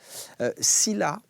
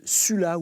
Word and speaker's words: Sylla: Sylla, ça s'écrit S-Y-2-L-A, et ça se dit aussi Sulla ou Lucius même, ça veut dire d'origine noble.